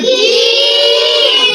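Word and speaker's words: جيم: আগা দিয়ে হাওয়া বের হলে বুঝবো যে সা উচ্চারণ হচ্ছে। জিম। জিম কেমন? জিম হচ্ছে জিহ্বার মধ্যখান উপরের তালুর সঙ্গে লাগায় দিতে হবে।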